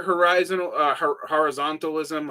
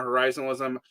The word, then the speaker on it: horizontalism: Um, Look, I'm very Rodrigo Nunes on like neither horizontalism or horizonalism. I always pronounce it wrong. I always drop the T.